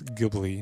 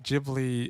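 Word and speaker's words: Ghibli: to pronounce it as gibly not jubly I used to pronounce it as gibl too I think jibli is the correct one correct me if I'm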